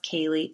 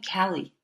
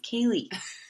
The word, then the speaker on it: Kali: on this podcast, but my name K A L I which is pronounced Kaye. Sometimes people still call me Callie.